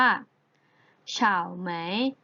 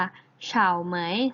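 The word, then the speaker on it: 草莓: ไฟ ช้าง หาว ผ่าน สตอเบอรี่ ใน ภาษา จีน แล้ว จะ ออก เสียง ได้ ว่า ชาว ไหม ชาว ไหม เช้า ไหม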